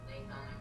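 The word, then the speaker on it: gnathonic: Nathonic has a silent G at the beginning and it means harmony or flattering.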